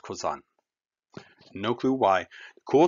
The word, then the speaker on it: Cousin: drives me crazy because it's spelled like cousin but it's pronounced kozan no clue why the